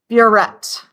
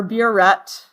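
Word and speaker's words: burette: of all this measuring device is called a buet b r e t t or if you prefer you can spell it buet doesn't matter okay this particular measuring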